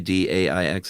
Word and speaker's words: d'Aix: d'Aix de la Chaise That's d'Aix, d a i x, is that how that's pronounced?